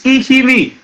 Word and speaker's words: Ikhivbi: So it means that there would have been, Ihime is now the modern way that Iseluku pronounces the original Benin word, which is Ikhivbi.